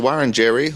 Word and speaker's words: Wiradjuri: And so Wiradjuri, or Wiradjuri as you've probably heard it be pronounced, is pretty much based